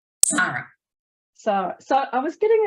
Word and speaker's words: Sara: and today's guest is the very very fabulous Sara hello Sarah hi Michelle and I keep saying Sara like it's a Sara instead of Sarah how how do you actually say your name s Sara Sara SAR so I was getting it right it's